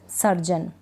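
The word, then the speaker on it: surgeon: इसमें जैसे कि इसको पढ़ रहे हैं हम सर्जन लास्ट में क्या है जी ई ओ एन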